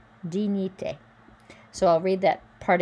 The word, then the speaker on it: dignité: So remember the GN is a ny sound. I is E. Dignité. Dignité.